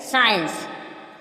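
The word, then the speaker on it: science: सी साइलेंट क्या है सी साइलेंट साइंस साइंस साइंस Saint मीस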